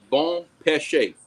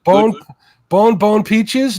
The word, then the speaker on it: bon péché: For everybody in chat that does not know how to say it, is bon péché. Bon péché, not bone. I mean, Bone peaches. No.